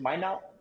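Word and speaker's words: Minot: that's how you pronounce it that's how you pronounce it my not my not my not like I thought likeo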